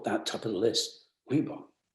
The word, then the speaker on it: Reebok: Reebok. 2 syllables. Sounds good.